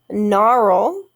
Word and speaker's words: gnarl: the m sound okay gnarl just like gnaw silent g g in making the